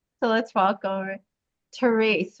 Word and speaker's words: Therese: It's spelled all E's, but it sounds long A. So let's welcome Therese, right? Therese.